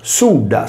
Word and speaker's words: Sulla: Nella storia romana, il dittatore Mario Silla, che noi conosciamo con tale nome dai libri di testo, si chiamava Sudda, scritto Sulla, che voleva dire fagiolo.